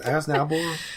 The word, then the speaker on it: Aznable: That, like, we're used to how to pronounce it. Aznable.